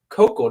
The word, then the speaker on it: Koukl: the adhering apologetics podcast today I'm with Greg cocoa did I pronounce that correct perfect so we there we